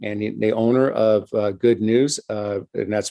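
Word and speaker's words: Good Gnus: the owner of uh good news uh and that's pronounced good news like uh like it sounds but spelled gnus um bill is a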